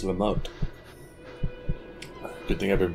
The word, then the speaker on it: Lamotte: Oh, it's Lamotte. Good thing I've been pronouncing that name all wrong the entire time.